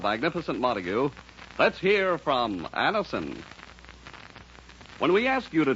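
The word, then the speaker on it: Anacin: delighted with the results ask your druggist for Anison today Anison is spelled a n a c i n and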